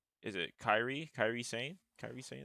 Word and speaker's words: Kyrie Sane: Kyrie Sain, that's how you pronounce it.